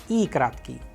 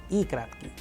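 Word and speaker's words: и краткое: Next letter is E kratki, E kratki. The basic difference between E and E kratki is that E is a vowel whereas E kratki is a consonant. Second, that the sound of E kratki is smaller, and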